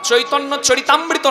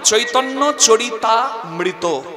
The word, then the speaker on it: চৈতন্য চরিতামৃত: তাহলে চৈতন্য চরিত যুক্ত অমৃত, উচ্চারণটা কি হয়? চৈতন্য চরিতামৃত নয়, চৈতন্য চরিতামৃত।